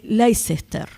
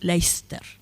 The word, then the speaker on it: Leicester: Lo que estamos viendo acá, esta imagen, corresponde al códice Leicester. Creo que lo estoy pronunciando mal, me parece que yo soy muy enfática, creo que es Leicester.